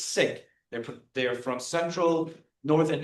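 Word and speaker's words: Sikh: They are sik or the proper way to pronounce it is sik.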